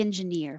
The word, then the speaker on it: engineer: have been a quality engineer for 10 years now quality that t changes to a d and engineer the stress is on ear quality engineer for 10